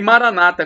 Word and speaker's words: Maranata: o seu bem e Maranata como dizem os evangélicos protestantes ou maranat como disos dizemos nós católicos com a tônica na última sílaba os evangélicos dizem eh com a tônica na penúltima sílaba mas não importa porque